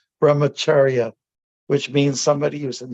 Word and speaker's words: brahmacharya: That's Angel, that's how you that's how we pronounce it. It's called brahmacharya, which means somebody who's in student life and